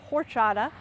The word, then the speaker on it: horchata: It's spelled horchata, but it's pronounced horchata, and it's a delicious beverage made from this nut.